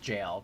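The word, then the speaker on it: gaol: better not be pronounced jail because g-a-o-l is pronounced jail I learned that from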